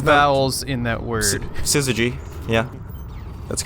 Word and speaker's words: Syzygy: Syzygy.